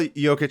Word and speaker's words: Jokić: jokester but just because last name is spelled j o k i c and like some one of his teammates was like oh I don't know how to say like yic so you're just joker